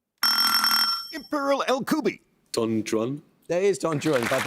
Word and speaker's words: Don Juan: The poet makes the 2-word name of the title figure rhyme with new one and true one. Imperial El Kubi. Don Juan.